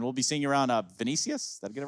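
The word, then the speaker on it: Vinicius: right first and foremost is it venicius did I say it right yeah it kind of like give or take but your first name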